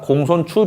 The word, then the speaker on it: 공손추: 예, 이것은 맹자의 용어로 맹자 공손추 편에 나옵니다. 예, 요것도 축이라고 읽지 않고 추라고 읽어야 됩니다. 공손추, 맹자 공손추.